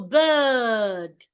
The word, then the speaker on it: bird: Because of the R beside the I, the sound becomes longer. So you go bird. I love the bird.